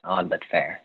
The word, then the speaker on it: OddVutFair: I don't know if I'm pronouncing your name right. OddVutFair? That's correct. Yes, OddVutFair.